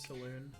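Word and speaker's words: Selûne: It's Salune, right? Is it pronounced Salune? The god, Yeah. the moon goddess chick? Saloon.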